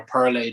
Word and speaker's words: Perle: It's a German hop, Pearl or Perle, depending on how you want to pronounce it.